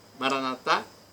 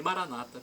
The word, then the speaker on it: Maranata: Jesus Maranata ou Maranata As duas pronúncias são usadas Maranata com a tônica na última sílaba pelos católicos e Maranata pelos protestantes o significado é o mesmo